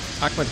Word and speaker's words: Ahmed: Ahmed, welcome. Thank you so much. Oh, Mohammed. A-H-M-E-D. Let's make sure I can pronounce that correctly.